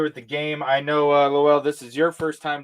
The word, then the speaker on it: Lowell: So you pronounce it Lowell.